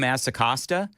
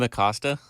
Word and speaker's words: Acosta: You may not have noticed that you mispronounced his name. Did I Jim Asacosta? Is that... That's... Is that not the way he's... Did you just say Jim Acosta?